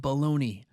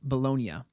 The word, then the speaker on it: Bologna: fans of greasy Italian meat, the city of Bologna. Okay, upon further research, it's apparently pronounced Bologna, but it's spelled the same way as bologna,